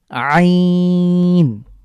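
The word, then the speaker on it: ع: এরপরে আরেকটি গুরুত্বপূর্ণ হরফ হলো আইন আ যখন এটা উচ্চারণ করব তখন আমাদের আমার কন্ঠের মাঝখানে চাপ পড়বে আইন যেভাবে আমরা হা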